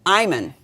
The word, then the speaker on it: Imon: It's pronounced Marisa Imon. Imon.